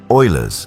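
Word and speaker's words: Euler: The design incorporates Oiler's famous mathematical equation, pronounced Oilers's equation, often called the most beautiful equation in mathematics.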